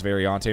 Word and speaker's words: Variante: Danush now coming through Ascari, which is, most of these are Variante, and I believe that's how you say it, is Variante, Mike, just in case, your Italian isn't that great.